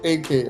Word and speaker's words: EK: And it's pronounced AK, like the gun.